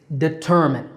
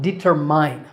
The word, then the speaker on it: determine: fragile next up is determine this is not determined there's no mine here it's determin with a stress on the second syllable ter so determine once